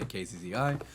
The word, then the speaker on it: Kzzi: Uh, I don't really know how to pronounce it except say KZI.